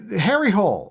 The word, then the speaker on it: Harry Hole: and i'm not kidding it's pronounced different in norwegian but i think they're norwegian it's pronounced harry hole okay that's what the name is in english that's what it sounds like in english is harry hole yeah um love it